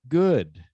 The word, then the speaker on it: good: Remember, good rhymes with would and should and could, but food has a different pronunciation, even though it has the same two O's.